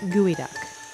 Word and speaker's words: geoduck: out of the way it may be spelled geoduck but it's pronounced gooey duck and yes it does